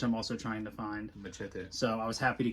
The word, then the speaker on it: Machete: Machete. So I was happy to get that. It's just dumb fun. And he doesn't say it right. Machete. He says machete. It's machete. I'm Hispanic. I'm sorry.